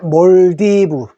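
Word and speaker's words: Maldives: 꼭 알아두십시오 아시아를에 어 말레이시아 레레이 됐죠 그다음에 몰디브 자인데 우리 요거 그 한글로 읽으면 말리 되죠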